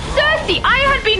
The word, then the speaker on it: Circe: And I looked it up and it's Cersei.